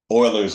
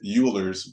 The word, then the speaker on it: Euler: function that uses um Euler's number or which you know can um be also incorrectly referred to as Euler's number the way it's spelled um but anyway it's